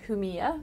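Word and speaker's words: Jumilla: Southeast corner there's a region called Huma spelled with a J which is silent and yla that produce monastral they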